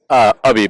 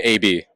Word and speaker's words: Abhi: Ubby, but you can call me AB.